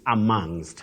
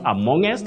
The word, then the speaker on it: amongst: amongst amongest but bet we say amongst amongst not amongest and not among okay and we have